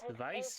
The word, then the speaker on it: Weiss: Weiss V. W is pronounced as V in German.